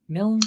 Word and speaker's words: Milne: at mil tsf did I pronounce that right mil that that is and it's a very rare thing to pronounce right which is shocking no